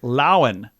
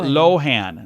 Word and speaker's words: Lohan: the surprise of many her last name is laen not Lohan Lindsay laen that's how she says it there's some additionals on